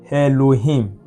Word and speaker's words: Elohim: have the word um Elohim. Now, this is alf that we just finished talking about. It's silent.